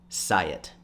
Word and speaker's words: Syatt: to have right now say it that's how you pronounce my last name say it think of the hyatt hotel but with an s a lot of people